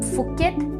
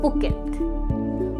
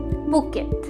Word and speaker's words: Phuket: लेकिन इस सिटी को हम फुकेट नहीं बोलते, इसे हम कहते हैं पुकेट, पुकेट। जी हाँ, नॉट द फ sound but the p sound, Phuket.